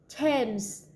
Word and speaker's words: Thames: Although the next and pairs with TH, they are pronounced as the normal T, like that. It was Thomas, Thompson, Teresa, Thailand, Thames, River, Esther, time, spike, time.